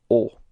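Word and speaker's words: aux: use is O Okay so even if it's ending with a x you don't pronounce it okay it's O all right so let's see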